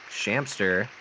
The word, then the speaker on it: Shamster: tonight i'm joined by shamster rhymes with manster imamu yo yo omi